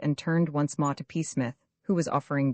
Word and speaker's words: Psmith: I am Peacemith said the old Etonian reverently. There is a preliminary PFA the name. This however is silent like the tomb.